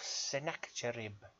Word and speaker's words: Sennacherib: Got a poem for you here by him called The Destruction of Sennacherib. That's how I'm pronouncing it.